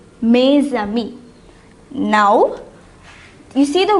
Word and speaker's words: mes: So what would you write instead of mo? We would write may. I hope you remember this. We learned this in the last session. So for mo is for a masculine singular noun. Now since we made this into its plural form, mo becomes may.